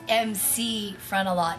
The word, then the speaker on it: MC Frontalot: It looks as though it says Mick Frontalot, but it's definitely MC.